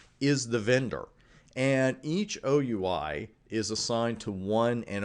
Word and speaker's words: OUI: Unfortunately, we pronounce that OUI, the acronym. I wish we said we, but we don't. It's OUI, and that's exactly what it does.